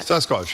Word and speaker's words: Sasquatch: who spent $300 on an 8-foot, is it Sasquatch? How do you say that? Sasquatch, yeah.